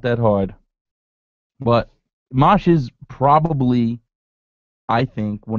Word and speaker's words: Mache: You know how many people probably butchered his name? It's Mache.